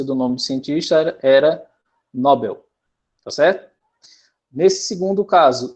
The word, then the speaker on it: Nobel: né o nome de um cientista e a pronúncia do nome cientista era nobel tá certo nesse segundo caso seria libero libero